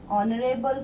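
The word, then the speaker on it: honorable: ओ history class, हा है अ ऑनरेबल person, H है लेकिन यहाँ पे क्या है? एच साइलेंट है, तो ये वाला ऑनरेबल ये हो रहा है, तो एन ऑनरेबल पर्सन।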